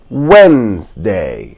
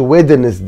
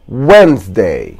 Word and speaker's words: Wednesday: يوم الاربع بقى ده اللي فيه ناس كتير جدا بتنطقه غلط، نطقه الصح هو Wednesday. حرف الدي اكنه مش موجود خالص، ما بتقولش Wednesday، لا بتقول Wednesday Wednesday Wednesday Wednesday Wednesday Wednesday.